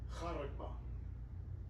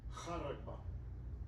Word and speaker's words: charagma: Charagma. I think that's how you say it. Let's play it. Strong's G5480 charagma charagma Charagma.